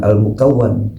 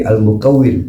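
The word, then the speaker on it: المكوِّن: Itu bacaannya bukan almukawan tapi almukawwin. Jadi isim fa'il bukan isim maf'ul.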